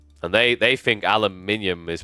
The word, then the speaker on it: aluminium: How do you pronounce aluminium?